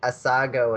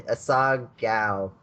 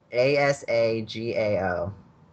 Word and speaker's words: Asagao: It's Asago Academy. I don't know where Something the name like comes from. Yeah, Asagao Academy. Asagao? Like morning face? Asagao.